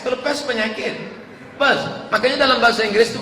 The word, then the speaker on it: Perth: I am going to Perth. Bukan pest. Kalau pest penyakit. Perth.